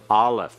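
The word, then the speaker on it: aleph: the Hebrew alphabet constants the first letter is what Allah and what kind of sound does it have yet silent it has no sound of its own it is one of two silent letters in the Hebrew alphabet the second letter is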